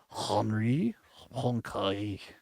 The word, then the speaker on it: Poincaré: Yeah, the proper pronunciation is Henri Poincaré is how, if you're going to be sophisticated.